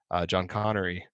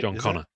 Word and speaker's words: John Connor: People think it's the Terminator person or John the son, John Connery or what? How do you say it? John Connor. John Connor. And you're thinking of Sean Connery.